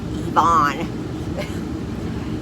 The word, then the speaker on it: Ivan: Now, we ended up not staying because when I made the appointment, I did it online, and I said I wanted Ivan, that's pronounced Yvonne.